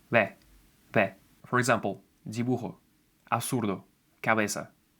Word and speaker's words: dibujo: Please notice that I'm not saying dibujo, absurdo, cabeza. It's dibujo, absurdo, cabeza. The difference is very subtle, but it exists. It should sound like you're only trying to pronounce B, but something gets in your way and you can't finish it.